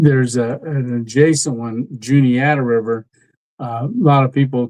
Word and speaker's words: Juniata: And I always go, it's Juniata.